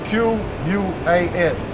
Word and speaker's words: Quas: And Quas, let me make sure I pronounce it right. Let me make sure y'all bear with me. And that's a female, okay? Yeah, Quas. Yeah, Quas. Okay? It's Q-U-A-S, Quas.